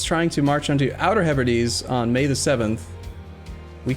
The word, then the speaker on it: Hebrides: right so he's trying to march onto outer hebrides on may the 7th we can rent contract